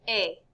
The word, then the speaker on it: est: Il est. Elle est. How could those be pronounced exactly the same when there's a T at the end?